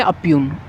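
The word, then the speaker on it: impugn: Next word क्या है, तो देखो नेक्स्ट वर्ड है ओपग्न। ओपग्न का मतलब क्या होता है, या फिर इसको बोलेंगे अप्यून, अप्यून बोलेंगे, सॉरी, है ना।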